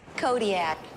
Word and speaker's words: Kodiaq: In the Alutiiq language, the Q's are more come from like your throat than a normal K does. How would we pronounce it then? Kodiaq. Kodiaq.